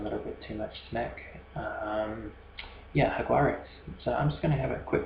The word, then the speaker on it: Jaguares: So just having a quick look at Argentina, the Argentinian team, the Jaguares. You say it with an H if you're getting more Spanish on it, spelled with a J.